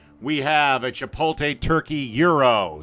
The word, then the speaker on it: gyro: And for you today, we have a Chipotle turkey euro. Some people call them gyros, but it's pronounced Euro.